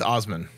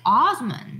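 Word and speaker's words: Asmon: do you say his name it's it's it's osmond it's all oh it's osmond it's saying only like awesome and gold because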